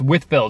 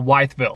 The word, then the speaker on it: Wytheville: It's Wytheville, not Wytheville.